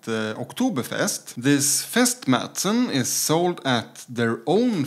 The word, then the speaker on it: Märzen: as in Swedish and the a with the two dots is pronounced a and it's pretty much the same in German so this is supposed to be called mson Fest mson and this